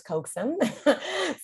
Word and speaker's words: Coaxum: So you pronounced my last name correctly. It is Coaxum.